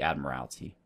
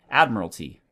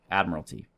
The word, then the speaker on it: admiralty: but enough to interest the admirality or actually admiralty now I'm pronouncing it right admiralty all right let's explore